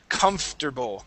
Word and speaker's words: comfortable: Okay, it's spelled a certain way, and we pronounce it completely different, right? This is comfortable, comfortable.